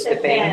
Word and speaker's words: Stephanie: If it's Stefan or Stephanie. Good call. It's pronounced Stephanie.